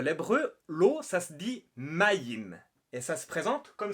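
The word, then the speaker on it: מים: En cananéen, c'est l'ancêtre de l'hébreu, l'eau, ça se dit mayim. Et ça se présente comme ça. Enfin, ça s'écrit comme ça.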